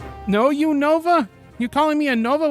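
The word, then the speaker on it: Unova: How do you how you supposed How you supposed to pronounce it? Enos. No, you Nova.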